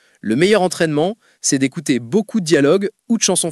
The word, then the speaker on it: beaucoup: Je ne comprends pas pourquoi on les écrit si on ne les prononce pas. Par exemple, dans beaucoup, il y a plein de lettres à la fin mais on ne les entend jamais.